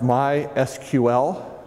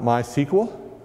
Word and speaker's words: MySQL: uh first thing is it's pronounced MySQL not myql uh some folks are